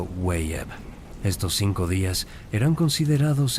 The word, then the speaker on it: Wayeb: al final del año llamado Weeb, pronunciado Wayeb.